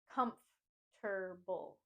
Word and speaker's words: comfortable: word is comfortable comfortable I sometimes hear people say comfortable and put the stress and emphasis on the last two syllables saying table but instead we want to put the emphasis and stress on the first syllable P comfortable com comfortable think of it as a three syllable word comforable comforable comfortable comfortable